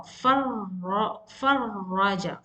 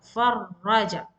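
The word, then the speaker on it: فرّج: So you have to stress on ra, farraja, farraja.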